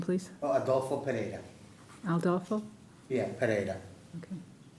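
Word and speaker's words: Pereyra: Adulo Para. Aldo. Yeah, Para. Okay. With with a Y, not an I. Pereira.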